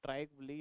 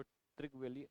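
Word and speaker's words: Trygve Lie: ट्राइबली या इनहीं को ट्रगवली उच्चारण अलग-अलग तरीके से किया जाता है।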